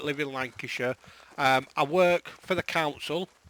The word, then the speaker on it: Lancashire: in England we don't we don't say the shire it's a sure sound so it's Lancashire Yorkshire Derbyshire things like that so yeah so obviously I like live in Lancashire I work for the